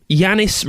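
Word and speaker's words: Yannis: Yanni is spelt with an S at the end, like Yanis. And at the end of their post, they said, Yanis rhymes with honey, by the way.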